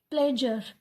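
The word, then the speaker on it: pleasure: और यहाँ पे शज, जैसे हम बोलते हैं प्लेजर, प्लेजर, ऐसे हम इसको क्या बोलेंगे? प्लेजर। लेकिन कैसे बोला जाता है? प्लेजर। श की साउंड आती है, थोड़ी सी साउंड आती है, ठीक है।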